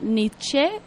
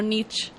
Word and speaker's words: Nietzsche: Dice Luis Gallardo, que se pronuncia Nietzsche con la E al final y no Nietzsche.